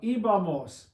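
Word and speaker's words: íbamos: Ibamos. Ibamos. There would be an accent on the I this time, 3 vowels back.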